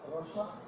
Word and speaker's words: Hiroshima: filled with an e but the Japanese vowels are usually pronounced slight intake and air right Hiroshima is actually Hiroshima okay okay so now